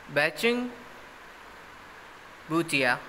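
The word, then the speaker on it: बाइचुंग भूटिया: Next is बैचिंग बूटिया, spell pronounce it correctly, बैचुंग बूटिया has played for 7 foreign clubs in football.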